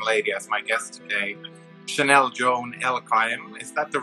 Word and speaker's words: Chanel Joan Elkayam: I have a very amazing and special young lady as my guest today, Chanel Joan Elkayam. Is that the right way to say it? Yeah, Chanel Joan Elkayam.